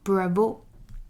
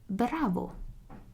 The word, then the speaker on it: bravo: already know bravo and it's actually a bit different from what you say in english it's not bravo it's bravo there isn't an accent on the o and if you're a